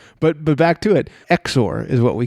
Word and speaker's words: XOR: So let's see how you pronounce this. What is the word at the top of that index card? Exor.